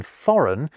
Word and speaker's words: foreign: Although, ironically, the silent G in foreign is a homegrown invention.